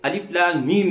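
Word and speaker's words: الم: پس الف لام میم کا تلفظ اس طرح نہیں ہوگا جیسے علم، بلکہ اس طرح ہوگا الف لام میم.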